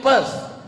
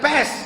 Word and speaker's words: Perth: I am going to Perth. Bukan pest, kalau pest penyakit.